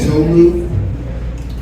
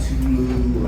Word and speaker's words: Tolu: What's up, my name's Tolu. It's Nigerian. It's a lot of people mispronounce it, but it's easy though. Tolu, it's 2 syllables. It's not Tulu or Tolo.